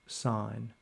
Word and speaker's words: sin: Notice that s has been abbreviated to s i n, but it is still pronounced sign.